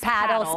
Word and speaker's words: Padel: Lake Travis paddle spicewood TX.